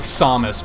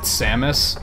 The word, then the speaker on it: Samus: Typically, I go with Samus because that's how Smash pronounces it. And that's how they've been pronouncing it since Smash 64. So I trust that that's the way to do it. I think in Metroid Prime 3 they pronounce it Samus, but like I would